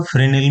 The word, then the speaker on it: Fresnel: इसमें diffuse, reflection और refract के अलावा फ्रेश नेल जिसे अंग्रेजी में फ्रीनेल भी प्रोनाउंस किया जाता है।